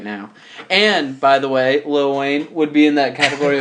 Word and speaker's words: Lil Wayne: Yes, it is Lil. Lil Wayne. Lil Wayne. There's no T's in there, I forgot. Little would take too long to say. It would. And it doesn't rhyme with much. And adds like an extra syllable.